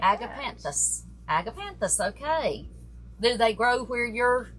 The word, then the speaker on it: agapanthus: it correctly am I am I real it's pronounced just like agapanthus agapanthus okay do they grow where you're where